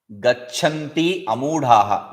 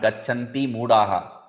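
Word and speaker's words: गच्छन्त्यमूढाः: Next is, be careful about this. Gachanti amudhaha, not gachanti mudaha. People idiotically, stupidly pronounce this as gachanti mudaha.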